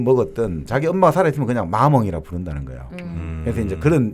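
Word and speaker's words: maman: 제가 발음이 좀 그런데 프랑스 사전 한번 들어보니까 마몽 이렇게 돼 있더라고. 마몽. 예. 근데 그게 엄마 이게 뭐냐면 이 마몽은 이 사람이 뭐 나이가 40을 먹든 50을 먹었든 자기 엄마가 살아있으면 그냥 마몽이라 부른다는 거예요.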